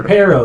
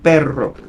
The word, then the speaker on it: perro: Can you roll your R's like the Spanish? Yeah. Say pero. Say dog. Say dog. Oh, perro, See, I can't do that. perro. Yeah, there is pero and then perro.